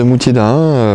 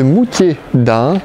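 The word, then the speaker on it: Moutier-d'Ahun: Bon bah voilà les passionnés, on est arrêté devant l'abbaye de Moutier d'Ain, voilà, donc un D'_AHUN, voilà, ça s'écrit comme ça.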